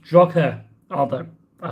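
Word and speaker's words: Drogheda: Overhead lines will only go to Drogler. Oh, no, you don't say the G, do you? It's Drogher.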